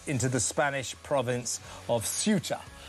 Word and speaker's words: Ceuta: I think that's what we call it now. I think I pronounced it wrong all day yesterday, but in my defense, so did every other presenter. So Suta it is uh bursting through the